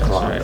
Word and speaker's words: clave: permeated the word and pronounce it like clave, and they don't even say the E, but it's really called clave.